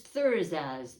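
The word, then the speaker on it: Thurisaz: It is Thursaz. The TH, letter TH is how they pronounce it.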